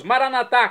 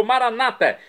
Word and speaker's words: Maranatá: E agora eu clamo do aramaico dialeto de Jesus, Maranatá, como dizemos nós católicos, ou Maranata, como dizem nossos irmãos separados das comunidades evangélicas ou protestantes. Não importa a pronúncia, o significado é o mesmo.